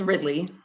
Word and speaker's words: Ridley: All right, next we have Sequoia Is it Ridley or Ridley? It's Ridley.